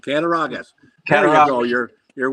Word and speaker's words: Cattaraugus: Cattaraugus. That's exactly right. Cattaraugus.